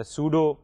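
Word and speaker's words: pseudo: द सूडो header the द सूडो the spellings R पी एस ई यू डी ओ P silent है सो इट is called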